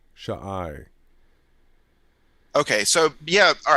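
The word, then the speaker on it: shai: idea um so s-h-a-i why aren't we just saying shy because because it because why are we if you look at the end if you look at the alphabet you'll see that the sh has an ah pronunciation to it so it's Shaw and then the I is the next character so shy shy okay so yeah all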